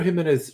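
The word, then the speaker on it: Ximénez: was Countess before bedtime well yeah the Pedro himz Sherry which is I'm I'm being St it's spelled x i m i n i himz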